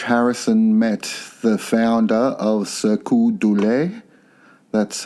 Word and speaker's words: Cirque du Soleil: So in the late 90s, George Harrison met the founder of Cirque du Soleil. That's how you pronounce it.